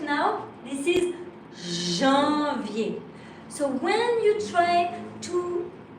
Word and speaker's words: janvier: So, right now, this is janvier. So when you try to tell it, please, you have really to concentrate very early and try not to pronounce loudly the D.